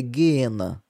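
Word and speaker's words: geena: Na no original a pronúncia correta é gena, tá?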